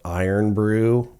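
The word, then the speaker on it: Irn-Bru: called iron Brew but it's it's spelled I think it's spelled i n b r u hello to the UK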